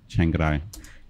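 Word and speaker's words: Chiang Rai: Chengarai. Chengarai. It almost comes as an extra syllable.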